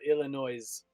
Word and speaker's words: Illinois: Well, I'm interested to learn about your Illinois. No, the S is silent.